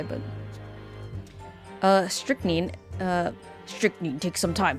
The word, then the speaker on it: strychnine: there three syllables but it's actually just strict need just two because then if there's three syllables then there would be another eye but uh strychnine uh strictly takes some